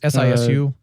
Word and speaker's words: Sisu: Do you know how to pronounce that? Sisu? Sisu? It's Sisu.